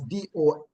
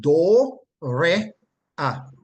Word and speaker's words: dorea: The root word is transliterated from the Greek to English as D-O-R-E-A, and it is pronounced do, re, a. Like I would say, do, re, And then it goes mi fa sol la ti do.